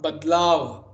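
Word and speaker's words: बदलाव: Badla, Badlav. Although that the is actually half when you pronounce it, you say Badlav, you write it as Badalav, Badalav.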